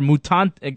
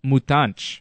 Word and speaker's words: Mutante: You know, for instance, I was calling Cesar Mutante. I was calling him Cesar Mutante, but I found out as the season went on that it's actually pronounced Mutanch, which is cool.